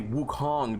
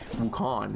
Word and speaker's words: Wukong: uh Wukong and see now I have to say Wukong because before I wasn't even pronouncing the g at the end I was just saying wukan right and she got mad